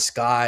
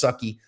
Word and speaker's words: SCCY: And you can see here, this is a pink SCCY, Sky is what they call, we jokingly say that it's pronounced Sucky, CPX2.